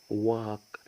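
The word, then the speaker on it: walk: وا وا وا وا واك يعني يمشي واق يمشي هنلاحظ برض يا شطار ان حرف الال برض ماتنطقش يبقى اذا الال اذا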